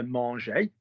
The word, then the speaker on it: manger: So they either end er, and we don't pronounce the r. So manger, er, parler, er, or